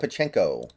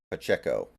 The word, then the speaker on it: Pacheco: By the way, am I pronouncing his name correctly? Pachinko? Or is it Pacheo or something? Does anybody know? I feel like I have to be pronouncing it wrong, but I'm so used to saying it, I don't want to change it, you know? Pacheo? Pacheco? Pacheco, okay. Pacheco.